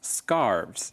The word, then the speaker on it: scarves: really cold so remember if you talk about more than one scarf its scarves you add the V sound at the end I guess Matt is